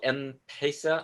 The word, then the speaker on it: M-Pesa: And the reason why Kenya, they have something called M-Pesa. I'm not sure if I'm pronouncing it right.